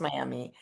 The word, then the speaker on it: Miami: It's not pronounced Miami. That muh at the end.